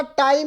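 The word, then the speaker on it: tau: क्या बोला जाता है टा ताऊ मत बोल देना ऊ हमारे यहां बड़ा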